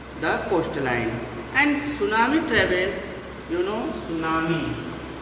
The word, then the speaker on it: tsunami: And tsunami travel, tsunami. T is silent. T is silent, and our pronunciation will be tsunami.